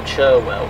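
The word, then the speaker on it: Cherwell: canal where it temporarily merges with the river chirwell which is apparently locally pronounced charwell so here's this interesting weir lock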